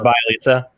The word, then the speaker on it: Bjelica: It's pronounced Bjelica.